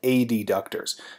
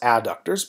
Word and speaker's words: adductors: compartment of the thigh which houses the hip a deductors now obviously this is pronounced adductors but i like to say adductors to differentiate